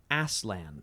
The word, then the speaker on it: Aslan: I pronounce it Aslan myself.